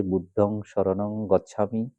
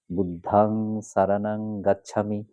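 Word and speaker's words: বুদ্ধং সরণং গচ্ছামি: সেটা আমি বলতে চাচ্ছি বইয়ে যেমন আছে বুদ্ধং শরণং গচ্ছামি ধমং শরণং গচ্ছামি সঙ্গ শরণং গচ্ছামি সেভাবে বলা যাবে না আপনি যদি শুদ্ধ শুদ্ধ থাকে গ্রহণ করেন নির্ভুল উচ্চারণ করতে চান তাহলে আপনাকে অবশ্যই ব্যাকরণ মেনে বুদ্ধাং সারানাং গাচ্ছামি ধাম্মাং সারণাং গাচ্ছামি সাংঘাং সারণাং গাচ্ছামি এভাবে বলতে হবে তো আশা করছি আমি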